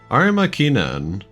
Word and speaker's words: Arima Kinen: I guess I'd pronounce it like the Japanese way. Arima Kinen.